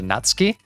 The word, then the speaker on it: Natsuki: By the way, I know that her name is pronounced something closer to Natsky.